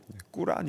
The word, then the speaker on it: 꾸란: 의 경전인 코란에 도 꾸란 이라고 하죠 발음은 코란 해도 비슷한 내용이 나오는데 거기에 는요